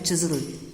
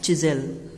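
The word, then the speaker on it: chisel: जो प्रोनाउंसिएशन है वो है चिज़ल, क्या है, चिज़ल।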